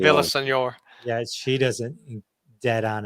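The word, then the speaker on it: Villaseñor: But Melissa Villasor, all right, I've said her name wrong, but Vel- like Villasenor. Villasenor.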